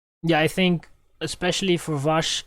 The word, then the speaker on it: Vas: actually mispronouncing kata blanca vast as it isn't vas we should pronounce so coming to the outsiders i was going to mention vash and um maybe the